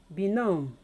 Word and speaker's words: benumb: And number 5, benumb. I pronounce them again: debt, indebted, debtor, sawtooth, benumb. If you look at the spellings, they all have a B spellings, which is silenced.